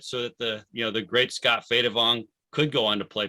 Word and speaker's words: Phaydavong: I pronounce it Phaydavong.